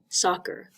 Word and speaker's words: soccer: a football so soccer we see two C's the first C makes the k sound because it's in front of another c not an e i or Y but the second C is in front of an e and an e was on our list but it's not soccer it's soccer and it just is soccer this is one common exception to that depth to that rule another common exception is